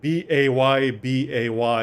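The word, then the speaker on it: Baybay: dip no it's like it's spelled it's spelt bay bay like b-a-y-b-a-y is like two words because it's not like it's not baby it's bay bay like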